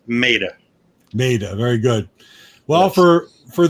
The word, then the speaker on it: Maida: thought, well, maybe it's Maida. Well, actually, that's the real Italiano way of pronouncing it. Italiano, Maida. But it's Americanized, it's Maida. Maida, very good.